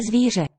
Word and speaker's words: zvíře: Staré zvíře. Staré zvíře. E is long, and that's the modified R.